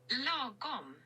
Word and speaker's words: Lagom: It's a, oh God, is it Swedish? It is a Swedish word.